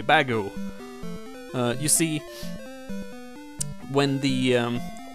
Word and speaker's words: Bagu: of error uh yeah so it's not error which is the error in this part it's actually bagu you see when the